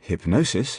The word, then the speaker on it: hypnosis: So, in hypnosis, for example, the middle syllable receives accentuation.